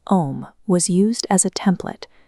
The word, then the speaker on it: Om: When pronounced correctly, the sound starts at the back of the throat with the open vowel ah.